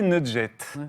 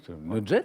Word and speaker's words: nugget: J'ai prononcé nugget, en fait. Oui. Moi, j'avais vu ce mot que écrit. Je ne connaissais pas sa prononciation. 2G, nugget, très bien.